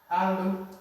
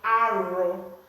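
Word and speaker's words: alụ: Alu. Alu. Alu. Now, in some areas, they say arrow. But here, I'm saying alu because it's associated with L, but it's just some people that pronounce it like this.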